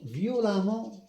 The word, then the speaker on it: violemment: Violent, violemment eux, mais on prononce toujours le a.